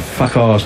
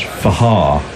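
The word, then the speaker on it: Fakhar: Zafar Minas has come in and said the correct pronunciation of Fakar's name is Fahar.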